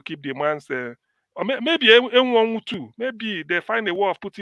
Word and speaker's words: Enwonwu: It's not M1. It's M1. It's not pronounced that way. That's not how you pronounce his name.